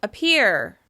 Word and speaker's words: appear: That's right, the first syllable has a reduced vowel sound. It sounds like It almost seems to disappear underneath that stressed syllable.